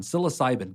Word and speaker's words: psilocybin: So there's been a lot of talk lately about how do you use magic mushrooms, or I believe it's pronounced psilocybin? That one, psilocybin.